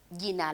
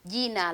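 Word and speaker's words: jina: say gina lako nani sometimes we use jay which is at the beginning if you don't want to make that sounds because israeli pronunciation are not difficult so we say yina lako nani what is your name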